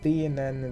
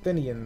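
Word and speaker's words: Theinen: Yeah, Theanen the Great Sphinx. Sorry, they pronounce it Thinian the Great Sphinx in the movie, but that's actually mispronouncing it.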